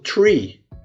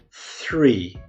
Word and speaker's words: three: primeiro episódio e é uma pronúncia como se fosse a letra s pronunciada ligeiramente entre os dentes ali então aí vai ser eu falo three trê árvore que pronuncia essa palavra free free eu falo free